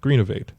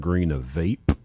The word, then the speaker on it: Greenovate: we're working on called greenovate mhm so this new P how do you spell that uh green oate like renovate but oh okay yeah I heard green of vape and I was like